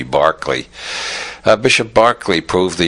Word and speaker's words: Berkeley: lights and Bishop Barkley George Barkley after whom the city of Berkeley is named because I'm Americans don't know how to pronounce Irish names it should be Barkley uh Bishop Barkley proved